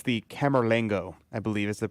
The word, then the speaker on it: Camerlengo: It's the Camerlengo, I believe is the pronunciation. I could be totally wrong on the pronunciation of it. There you go. Yes, it is. Camerlengo.